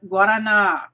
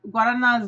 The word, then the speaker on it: Guaraná: The number one food thing I loved about Brazil is Guaraná, which if you haven't tried this is awesome stuff. I learned how to say it pretty quick because it tastes really good, and it's Guaraná Zero, which is sugar-free.